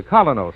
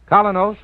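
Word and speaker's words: Kolynos: you'll see the difference so start today the colos wayway your reward will be a naturally brighter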